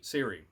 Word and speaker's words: Ciri: The girl Siri. I can never say her name. I only remember it because now I'm thinking Apple. Oh, right. I'm like, hey, Siri. But it's spelled with a C, right?